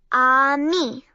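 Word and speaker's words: ami: you say friends in French the word is on me my mom says you say it like this on me I love French everything sounds so fancy why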